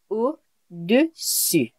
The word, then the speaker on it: au-dessus: You must make attention, be careful with the pronunciation. So for below, it will be au-dessous and above, au-dessus.